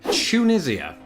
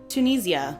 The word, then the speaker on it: Tunisia: On to the next one speaking of countries we're going to go south of the Netherlands now to North Africa Tunisia. Tunisia Ooh look at that we've got two differences there.